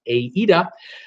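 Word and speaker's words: AIDA: a a a dot this pronounced AE de the AE de cruise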